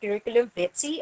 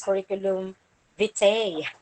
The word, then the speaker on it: curriculum vitae: include leaflets prospectuses and curriculum bitsy or curriculum vitae you don't pronounce it as curriculum vitae it's curriculum bitsy or curriculum which I